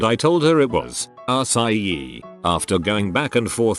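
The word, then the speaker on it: açaí: Cadilla, which changes the hard C to a soft C, which is pronounced like an S.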